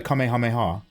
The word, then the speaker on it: Kamehameha: God KEH hameha yeah I call it a Kamehameha not a kameha not a kameha kameha mayor